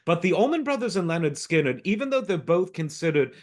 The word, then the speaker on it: Lynyrd Skynyrd: and it was called pronounced Leonard skinnard uh just for those having trouble with the fanatics but we all